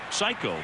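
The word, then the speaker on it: 最高: Well, the answer was psycho, which is pronounced psycho, but it's actually spelled in Japanese s a ko.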